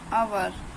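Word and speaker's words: hour: एस एच ओ यूर अवर अवर pronounce हर प्रस नहीं है हम कभी भी हर नहीं पढ़ेंगे हम अवर पढ़ेंगे ऐसे नेस्ट नेस्ट बट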